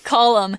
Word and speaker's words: column: the N so it's not called um okay column imagine a big pole standing up straight those